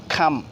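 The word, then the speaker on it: comb: M plus B এর পরপর থাকলে বি এর পর কোন ভাওয়েল না থাকলে বি উচ্চারিত হবে না। সো এক্সাম্পল খাম।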